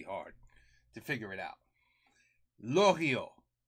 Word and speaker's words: Loriot: Lorio. Don't pronounce the T. It's French.